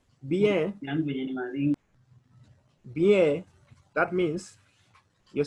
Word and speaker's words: bien: So you can say the response can be fine, which in French we can use bien. Bien. Bien, that means you're saying I'm fine, bien. So we are going to pronounce the words for bien, that is B-I-E-N.